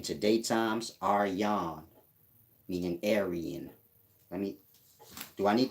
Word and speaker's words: Aryan: are you are young the one at the bottom is aryan but it's pronounced are yon the one at the top is arya arya varta is the place they set up meaning aryan nation got to do